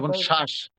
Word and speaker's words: শ্বাস: ব ফলা যদি শব্দের শুরুতে আসে তার কোন কাজ নাই। তবে একটু চাপ দিয়ে উচ্চারণ করতে হবে। যেমন কি হতে পারে? কোন শ্বাস শ্বাস যেমন শ্বাস